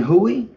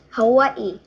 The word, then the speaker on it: Hawaii: In Hui? In Hawaii. Huwuhu? How do you say it? Hawaii. How do you spell it?